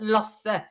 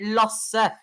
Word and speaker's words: Lasse: It's called Lasse. Easy. It's easy. You just say Lasse. It can't be that hard. Yeah. It's like teaching people Norwegian. It's like teaching other people Norwegian shit.